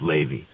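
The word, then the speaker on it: Laivy: i v y pronounced Ley like like uh like the good old Grateful Dead song Lazy River LaVey Miller yeah LaVey Miller lazy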